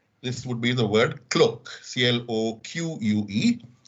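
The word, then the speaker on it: cloqué: would be the word cloak c-l-o-q-u-e it sounds like the word cloak but is french in origin that is a word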